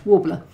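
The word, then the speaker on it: Worbla: the cupboard's full of warbler did I just pronounce that right yeah warbler and um you know bendy phone for doing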